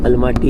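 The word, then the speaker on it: Almaty: अलमाटी airport पे हैं। हम यहां पे आप देख रहे हो अलमाटी लिखा हुआ है। अलमाटा कहते हैं इसको यहां पे और वैसे अलमाटी है इसका स्पेलिंग इंग्लिश में।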